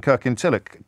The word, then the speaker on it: Kirkintilloch: Irene is in Kirkintilloch. Irene, what would you like to say? Hi, well done. You pronounced that correctly.